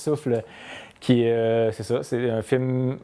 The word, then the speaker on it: SouphL: Je présente mon film qui s'appelle Souffle, qui est écrit tout croche, mais qu'on prononce Souffle, c'est ça, c'est un